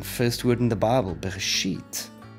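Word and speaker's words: בְּרֵאשִׁית: First word in the Bible, Bereshit. We have a bait with a dagesh in, which means it's a strong b sound.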